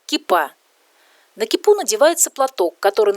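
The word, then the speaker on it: כיפה: На иврите в этом слове ударение ставится на последний слог и произносится кипа.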